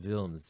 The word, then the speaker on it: Wilms: my life as well, because Wilms is also a German name, pronounced Wilms in German. And when you're dictating it to people over the phone or registering something at, say, a counter, they think it's Wills or Williams.